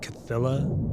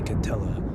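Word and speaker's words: Cthylla: So it's like Cthilla, but I say Catella. So apparently it's supposed to be pronounced like that.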